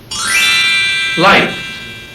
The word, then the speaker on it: liked: Liked. Agora o final é super suave. Quase parece que não termina a palavra, mas termina sim.